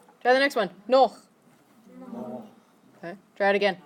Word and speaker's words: noch: So a lot of people mispronounce this one and they think it's nach. Because you've seen nach with an A. You've also seen Nacht with an A and a T. But this one is noch.